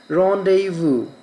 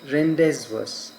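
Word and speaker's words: rendezvous: And the word re e n d e z v o u s is pronounced as rendevu not rendees.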